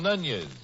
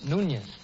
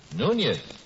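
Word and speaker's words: Núñez: who is mr nunez how to do sir glad to see you i pronounced your name correctly no you didn't actually it's nunez nunez spanish you know how come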